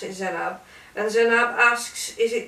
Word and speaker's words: Zenaib: I don't think you pronounce the I. Z-E-N-A-I-B. Zainab.